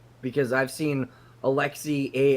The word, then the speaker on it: Alexei: I would say Alexi I would say Alexi whether it was spelled like it is here or ex i e I'd say Alexi but Alexa that may be more accurate to the pronunciation it's Alexi bro when the [ __